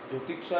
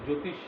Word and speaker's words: জ্যোতিষ: জ্যোতিষা means astronomy, sorry জ্যোতিষ যেটাকে বলা, জ্যোতিষা নয়, জ্যোতিষ, JOYTISH, জ্যোতিষা means astronomy, Jyotish means astronomy, and this is the fifth one.